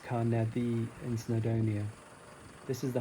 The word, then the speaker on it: Carneddau: I'm up here in the Carneddau, pronounced Carneddi, in Snowdonia.